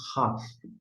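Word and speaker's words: Khaf: Agora, quando estiver sem o pontinho dentro, vai ser um som de RAF, uma aspiração gutural mais forte, né?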